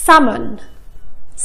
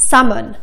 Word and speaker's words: salmon: واسمعوا كمان هالكلمه salmon. salmon ما نطقنا فيها حرف ال L.